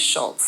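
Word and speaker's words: Šulc: It looks like Sulc, and I think it should be pronounced Schultz. Or Sulc, but my husband and his family think it should be pronounced Schultz. Apparently it came from the Czechoslovakia, so I take it on faith that they pronounce my last name as Schultz.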